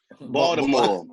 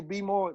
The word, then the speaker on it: Baltimore: You gotta say it right though. Baltimore. We don't say, hey, Juice. If you ever run into somebody that say be more, they from Baltimore County.